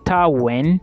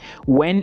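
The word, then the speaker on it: Wien: the University of Vienna in German it is pronounced as University when when is w i n okay to end this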